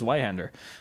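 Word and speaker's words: Zweihänder: I do think it's funny how English people always pronounce it as a Zweihander. I did it as well just now because I'm used to it, but it's like, it's a German word. It's zwei. It's with a Z, with a TS, I guess.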